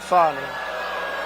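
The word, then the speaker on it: Fani: f do you think fonnie huh F A ni I that's pronounced Fanny but you're not allowed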